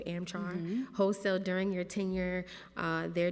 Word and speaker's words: AmChar: $160,000 worth of firearms from AmCharcoil, or pronounced as charcoal, AmChar, wholesale during your tenure.